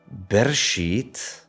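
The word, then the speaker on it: בראשית: verse 1 from right to left we have bershit Bara Elohim I'm not going to look at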